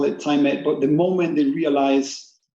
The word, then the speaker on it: Tymit: did you come up with a company name timid what does it stand for yeah we pronounce it time it and it comes from the idea of actually